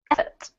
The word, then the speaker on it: effort: And this one, effort. Effort. Good. Emphasis on the first syllable, in an effort to protect.